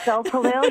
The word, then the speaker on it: Gulpilil: I can never pronounce his last name. Yes, no, that's correct. Gulpilil, yeah.